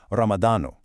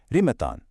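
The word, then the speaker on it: رمضان: In the formal classical Arabic fussa, you'd say Ramadano. But if you're in the Emirates, you're more likely to hear rimatan.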